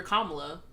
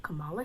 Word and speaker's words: Kamala: love like kamala kamala kamala harris like it's not hard to pronounce kamala's name like comma love like dude i don't